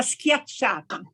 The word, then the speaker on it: schiacciata: No, it's the one with an S, La schiacciata. schiacciata? Schiacciata, which is what Romans call focaccia.